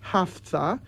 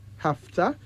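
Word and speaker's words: Hafthah: And Hafta. H-A-F-T-H-A-H. That's H-A-F-T-H-A-H. Hafta means preserves and protected.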